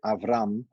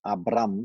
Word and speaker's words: Avram: is you speak when you read in torah you see avram and not abram like a bee and and not abraham so in translations in in our language and in english the b is pronounced as a b and not a v so it should be